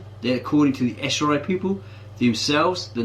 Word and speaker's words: Ashuri: Yeah, you have to take that with an Assyrian. Pronounced Ashuri. Assyrian is the Anglicized version, that's the Anglicized version of the name Ashuri.